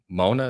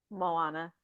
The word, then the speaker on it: Moana: from the Disney uh Mona. Is that how you say it? Moana. Mo who moana Moana over